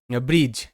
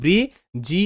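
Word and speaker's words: bridge: level যেমন শব্দ এখানে ব্রিজ বি আর ব্র আই এর সাউন্ড রসয়ী তাহলে ব্রি ব্রি ডি কিন্তু এখানে সাইলেন্ট থাকবে ডি এর উচ্চারণটা হবে না ডি সাইলেন্ট থাকে তাহলে বি আর আই ব্রি জি এর সাউন্ড হবে বর্গীয়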